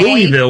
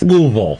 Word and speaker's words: Louisville: Louisville, which is completely wrong. No, we are both educated in the pronunciation. It's Louisville.